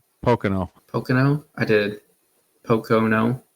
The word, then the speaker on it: Pocono: up to this point did you say picano I think I know Pocono Pocono I did Poco